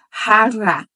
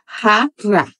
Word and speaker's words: jarra: Já não vai ser jarra, vai ser jarra. Porque rota se pronuncia assim, com esse som de rota. E a letra R é também R. Então, jarra em espanhol seria jarra, jarra.